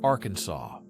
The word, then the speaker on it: Arkansas: It must be pronounced with a silent ending, like Arkansas.